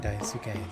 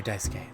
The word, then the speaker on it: Daisuke: Swansea is teaching Daisuke the basic. Or Daisuke, sorry. I don't know why I'm saying it wrong. I know how to say it.